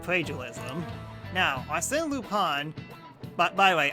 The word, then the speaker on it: Lupin: Now, Arsène Lupin... By the way, I pronounce it Lupin instead of Lupin.